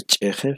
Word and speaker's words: cheje: En el caso de cheje, fíjense, la I la pronuncio como si fuera vocal abierta o semiabierta, ¿no? Cheje, ¿no? ¿Por qué? Pues debido a la presencia del sonido posvelar, ¿no? La ja, ¿verdad? Muy bien.